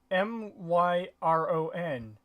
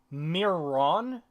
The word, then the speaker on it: Myron: because there's no there's only one end at the end m-y-r-o-n myron me or not you're not yeah i mean you're not coming into play i i guess you might be able to mispronounce it as my um mirror ron but not mere none but even then myron just sounds so much like myron just sounds so much more obvious my rune in the